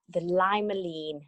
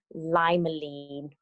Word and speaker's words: limonene: The limonene, I believe, is how you say it.